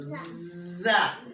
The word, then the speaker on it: ز: So it sounds like Z in zebra. And how is the Z pronounced? Is the tip of the tongue touches the roots of the bottom teeth. So za.